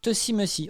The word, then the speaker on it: Tussie Mussie: Ça se prononce Tussimusi.